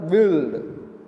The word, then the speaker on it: whirled: woman, and the dancer whirled. It means world, we call it. Here R becomes silent mostly, and completely we are pronouncing this one as the dancer whirled.